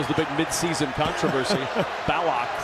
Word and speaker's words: Ballock: He gave me a little lesson in how to pronounce their name this morning. That was the big midseason controversy. Ballock.